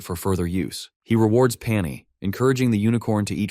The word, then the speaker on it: Pani: Jiha, true to his terrible naming habits, calls it Pani, simply because it rhymes with pony.